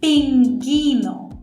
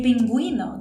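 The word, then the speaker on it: pingüino: already told you that if I do g u i this U is silent so if I write it down like this the pronunciation would be pingino right but that's not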